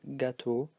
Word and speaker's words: gâteau: So it's pronounced O, and these ones are pronounced O as well. So gâteau, eau, beau.